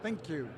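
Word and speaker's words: ThinQ: your with your thin think how do you pronounce it think you thank you very much no it it it's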